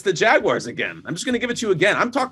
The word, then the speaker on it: Jaguar: I'm in London again there's three ways to go from the most ignorant to the most uh impressive way to say that word Jaguar Jaguar and jaguar that's how they say it here it's so it's fascinating